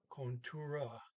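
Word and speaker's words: kontoret: t at the end so contour the t is not pronounced it just sounds like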